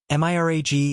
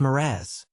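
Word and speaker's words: mirage: Mirag is pronounced Miraz, said Valency shortly, picking up her tea and her beans.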